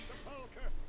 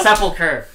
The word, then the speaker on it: sepulchre: Find me a sepulchre worthy of my magnificence, and fill it with riches. Is that how that's pronounced? I've always No, it's not. It's my fault. It's sepulcher.